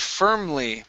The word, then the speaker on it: firm: next is the word firm okay here you said fa okay so curve your tongue up to pronounce that R fur firmly firly okay one